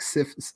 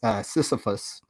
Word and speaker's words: Sisyphus: He goes, that is like Sisyphus, Sisyphus, Sisyphus.